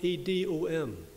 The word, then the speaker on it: Edom: You'll find it in your Bible, and it's spelled E-D-O-M, Edom.